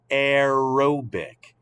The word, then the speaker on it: aerobic: you're writing that down aerobic uh think about that word aerobic now i know it's not spelled the same but what does the first part of that word sound like air aerobic this is how